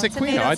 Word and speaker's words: Aquino: And well, apparently in Italian it's Aquino. Aquino. I do not speak Italian, but that's what they're telling me now.